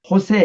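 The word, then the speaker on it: Jesús: 보면 축구 선수도 보면은 예수 영어로는 지졌는데 이제 발음은 자기들 말로는 이제 호세 이렇게 말하죠 호세이라는 이름은 많죠 그게 다 이제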